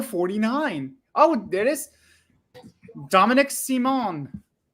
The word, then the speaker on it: Simon: Oh, it is Dominic Simon. Are we giving it an accent? No, that's how it's pronounced.